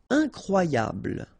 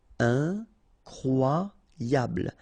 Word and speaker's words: incroyable: Incroyable. Okay, same thing here for the final E. Don't pronounce it. So, incroyable. Incroyable.